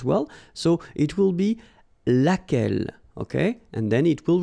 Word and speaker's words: lequel: remember lai lai okay so it goes like lequel all right and then the feminine form so singular we saw it lequel okay so basically same rule q is not